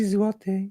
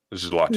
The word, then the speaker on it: złoty: How do you pronounce what currency do you use? Polish złoty. You can translate it to Polish goldens, basically. Polish złoty? Zloty.